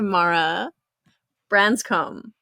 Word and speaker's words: Mara Branscombe: Well, we're here to talk to Mara Branscombe.